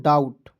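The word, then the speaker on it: doubt: टी इसे पढ दोस्तों डाउट डाउट नहीं पढ़ेंगे दोस्तों बी को साइलेंट कीजिएगा ठीक है डाउट पढ़ेंगे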